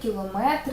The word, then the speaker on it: кілометр: підказку на встановлення наголосів Але існують іще інші іменники які закінчуються на метр матимуть наголос на е йдеться лише проміри довжини сантиметр кілометр дециметр але скажімо в